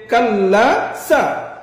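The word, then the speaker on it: كلا: হবে কাললা ইন জবর ইচ্চারণটা গলার মাঝখানে হকের মধ্যখান ইয়া লাম জবরলা সলা এখানে সাইলা শুরু থেকে কাললা সলা জবর না কি হবে কাললা এখন যদি করি তাহলে উচ্চারণটা আমার কেমন হবে গলার চাপ দিতে হবে মধ্যখান তাহলে মাশাল্লাহ এরপর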